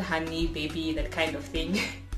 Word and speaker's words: Hanni: By the way, Hanni is the same way it's spelled in this, in the name for this channel, Hanni, not Honey, please. It's Hanni.